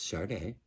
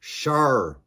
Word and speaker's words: Sade: And it's Sade. If you hear it, I have a subtle R in there, right? Because a subtle R. My issue is when people say Sade. It's not Sade, it's Sade. Very subtle. Listen to her say her name.